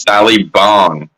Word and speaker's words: Sally Bong: I've been saying it wrong. It's Sally Bong.